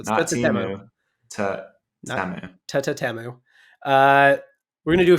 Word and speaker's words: Temu: pronounce it I mean they were pretty clear in the ad it's t t TAMU so you're supposed to say t twice so t t temu uh we're gonna do